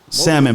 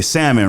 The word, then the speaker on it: salmon: like salmon okay yeah salmon pronounced without the L right you're supposed to say salmon right you can say